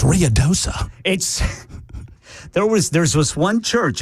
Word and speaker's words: Ruidoso: I mean, they were ready to fight me because I was mispronouncing so many names. It's Ruidoso.